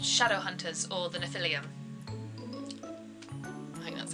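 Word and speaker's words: Nephilim: them herself and they're called shadow hunters or the Natalia that's how you say it so yeah in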